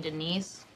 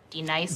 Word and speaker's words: Denise: wrath now d nice do you mean denise you say your name right right now denise say it right denise correctly denise right denise right d nice that's better thank you now a-a-ron are